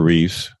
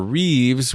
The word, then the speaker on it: Reeve: you're an today correction my pop says Christopher Reeves with an S at the end but it's actually just Christopher reev the actor that played